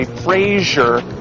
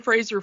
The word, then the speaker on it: Fraser: If you say Frasier, I know where you live. Oh, crap. Brendan Fraser's going to kill me. And so because of that, I have spent the last 20 years making sure I pronounce his name correctly.